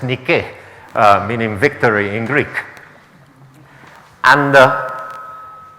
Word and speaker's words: Nike: And now it's pronounced Nike for the shoes, but it's Nike, meaning victory in Greek.